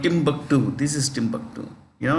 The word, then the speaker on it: Timbuktu: heard of a place called Timbuktu this is Timbuktu you know it's called tomu here but it's usually pronounced Timbuktu okay uh Jordan is a pro West monarchy